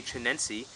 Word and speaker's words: chinense: It is a chinense, which is apparently how you say it properly.